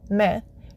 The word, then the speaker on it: मैं: मैं, When saying the word I in Hindi, मैं, don't pronounce the N at the end of the word. It's more of a nasalization sound.